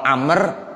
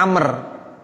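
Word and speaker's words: عمرو: aja Bapak ya Ibu kalau Umar tulisannya Ain Meme amarok kalau Amr Ain Meme roam Abah Wow jadi WOW nya ada tuh habis rok kalau ada habis roknya Wow bacanya Amr kalau enggak ada Wow Bacanya apa Umar jadi bedanya begitu anaknya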